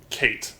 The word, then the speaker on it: K8: Okay, Kate, pronounced Kate again, donated and said K8 is pronounced Kate.